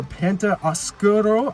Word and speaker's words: Penta Oscuro: title we also saw pentagon dark or penta oscuro i believe is how it's pronounced that is a poor